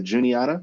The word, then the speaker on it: Juniata: You guys have the Juniata. I think I'm saying that right. Yep. On the 6th. Juniata.